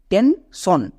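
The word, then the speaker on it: tension: দাল মি সন সো এস আই ও এন যখন word প্যাটেন হবে তখন সন উচ্চারণ দেবে যেমন টেন সন পেন সন এখানেও দেখেন সন শব্দের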